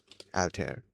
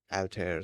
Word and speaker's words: Altair: thing cuz I remember people pronouncing it as Alter and I'm wondering if I got it wrong or they got it wrong. Okay, that's interesting because um I was trying to go off of the um the pronunciation of the hold on I messed up the spelling of pronunciation uh of the old computer system alter there and from what I remember it let's say people were pronouncing uh it as all t air.